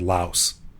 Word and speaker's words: Laos: not in english though in english it's not pronounced lao it's pronounced laos in english that's right and then